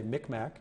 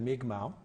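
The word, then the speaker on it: Mi'kmaq: those are the days we still used to say Micmac instead of me kamau write more of the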